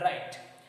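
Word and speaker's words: write: Okay, third number column you see the pronunciation wrinkle, wriggle and right. ये तीनों का जो pronunciation है wrinkle, wriggle और right, here W, W and W, all 3 W's are silent here.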